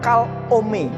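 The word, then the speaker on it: חלום: Dan mimpi ini dalam bahasa lain itu kalom, pengucapannya kalome.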